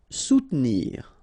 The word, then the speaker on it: soutenir: Soutenir. Okay, so sous first, and then don't insist on this here.